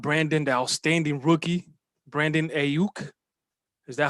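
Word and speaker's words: Aiyuk: Um, and then you got Brandon, the outstanding rookie, Brandon Ayuk. Is that how you pronounce it, Jeremy? Yep. And Brandon Ayuk.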